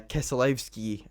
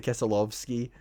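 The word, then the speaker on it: Keselowski: And uh, Kesalowski uh won that weekend. By the way, if you're wondering why I'm pronouncing his name like that, that's the Polish way of pronouncing it.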